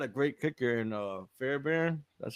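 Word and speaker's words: Fairbairn: Yeah, they got a great kicker in uh Fairbear.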